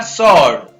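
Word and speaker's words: sword: इसी प्रकार सॉर्ड, इसमें भी W का उच्चारण नहीं होता है।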